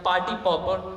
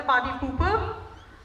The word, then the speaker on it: party pooper: The sentence is, my friend has been a party pauper since childhood. Okay. So you got the pronunciation right. That's a party pooper.